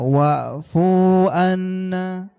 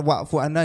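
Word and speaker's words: واعف عنا: ee kita akan sadar betapa salahnya cara baca wu anna kok lyah gitu. Apakah ya? Ya. Wfu annafunya salah itu dipanjangin. Wfir fir-nya dipanjangin. Lana lanya dipanjangin lagi warhamna. Warhamnanya yang benar.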